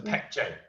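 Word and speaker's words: Baekje: it's it's it's it's first letter is b but b is pronounced p so pec j thank you all right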